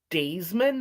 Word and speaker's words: Dasman: And then Dwayne, I think it's Daisman, but it's spelled Dasman, came onto the stand.